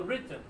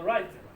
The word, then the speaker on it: written: Y aquí digo written, no digo written, porque tengo dos T, ¿no?